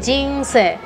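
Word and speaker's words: 人生: Se dice jinse. Ahí se pronuncia jin.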